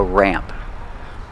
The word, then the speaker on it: ramp: Pronunciation uses a short A sound like black cat, ramp. The A sound changes a little before the M. It goes more nasal in your nose.